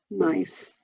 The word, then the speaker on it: Gneiss: So that's a nice kind of florally pattern, and that one's called, and it's spelled Gneiss, but it's actually pronounced Gneiss, just so you know.